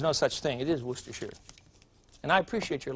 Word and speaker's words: Worcestershire: A gal from Boston wrote me a note, was just really complaining about my pronunciation of Worcestershire sauce. But there's no such thing. It is Worcestershire.